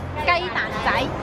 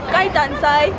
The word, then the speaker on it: 鸡蛋仔: Can you pronounce this in Chinese? 鸡翅肉松鸡蛋仔. Cheese cho. Ji choi. Yok song. Yok son. Gai dan sai. Gai dan sai.